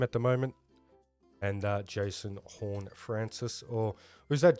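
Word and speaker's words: Horne-Francis: And Jason Horn-Francis, or who's that? Jason Corn-Francis, as a commentator pronounced his name on the weekend.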